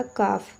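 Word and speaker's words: calf: तो देखिए यहाँ पे एल जो है आपका साइलेंट हो जाता है, तो ये आपका हो जाएगा काफ।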